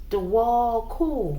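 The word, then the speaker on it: Djwhal Khul: Pronounced Dewal Kul.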